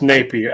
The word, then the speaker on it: Napier: It's Napier. I've heard people, everybody I know that knew him said Napier.